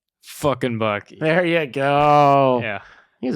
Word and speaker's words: FknBucky: I spell it, you say fucking Bucky.